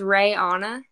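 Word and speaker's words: Raeanna: okay this is tricky my name is Ray Anna but it's spelled r-a-e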